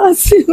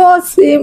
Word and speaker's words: আসিম: facebook কে বিভিন্ন চ্যানেলে আমার ছেলের নাম হচ্ছে আসিম জাওয়াল আমার বাবার নামটা আমি রাখছি সবাই বলে অসীম অসীম এগুলো সবাই মিডিয়াতে বলতেছে